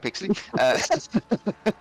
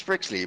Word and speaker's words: Pixley: Pixley. What was the nickname you came up with him earlier? Oh, that's Prixley, but that's because it's always forcefully mispronounced by Mr. Anderson.